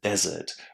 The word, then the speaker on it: desert: The place with sand on the other hand is called a desert. Stress on the first syllable and the vowels are much shorter inside this word.